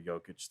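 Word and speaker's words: Jokić: Yeah, no, I do feel bad for Jokic though. Yeah, that's how you say his name, Bob. Jokic.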